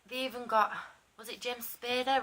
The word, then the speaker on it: James Spader: But they even got, was it James Spader, rhymes with Darth Vader?